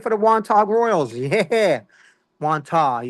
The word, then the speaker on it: Wantagh: Wantagh. You can't pronounce the G, guys.